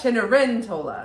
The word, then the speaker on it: Cenerentola: It's Cenerentola. Oh, Cenerentola? I mean, I gotta look it back up. But it was like the C is a ch, which we in Italian can happen.